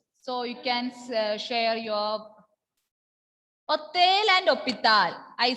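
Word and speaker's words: hôtel: H is silent.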